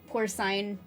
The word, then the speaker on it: porcine: Okay, so at least I was correct about the way you pronounce the C. I can live with saying scene instead of sign. Porcine.